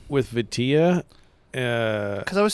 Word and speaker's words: vitilla: I'm calling it Vitali because I can't remember anything. I have Alzheimer's. Vitali. Vitilla? Vitilla. So, that's what the guy from the Dominican Republic said on the video that I was watching. He said Vitilla. So yeah, I'm going with the source there on that one.